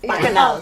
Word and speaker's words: bacchanal: Bacchanal, turn up.